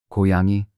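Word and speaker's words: 고양이: like G in go kuyangi this is the Korean word for cat it is written using the consonant g at the beginning which is pronounced like the G in go get on this is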